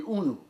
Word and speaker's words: unu: I didn't know how to spell it because I don't know whether when you read it in the book it sounds like oh no, right? But it's pronounced actually unu.